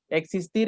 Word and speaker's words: exist: Existir es exist, me recargo como en la segunda sílaba.